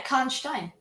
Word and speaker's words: Karnstein: Yeah, Karnstein.